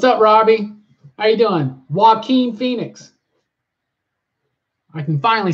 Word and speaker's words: Joaquin Phoenix: you can you can Alicia spelled it out for me phonetically so now it's visually in my head when I want to say Joaquin Phoenix so now I no longer say draw Queen phenox yeah oh yeah John